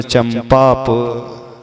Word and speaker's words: चंपापुर: हाँ हाँ, चंपा लिखा है, चंपापुर है तो चूंकि पा आया है तो माँ का उच्चारण किया चंपापुर।